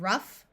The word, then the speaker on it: rough: the sound of f in these words the o u will have a short u sound so we have rough Tough Enough in this word we